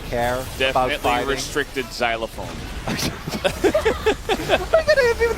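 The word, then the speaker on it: xylofoon: How do you pronounce xylophone in Dutch? Xylophone.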